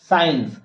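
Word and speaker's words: science: लिख कर दिखा रहा हूं आप बोलो scirnc साइंस अब इसमें आप देखो की इसके बाद क्या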